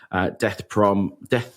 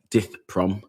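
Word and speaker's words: Dith Pran: So The Killing Fields is the story of death I've fucked up pronunciation already. Dith Prom.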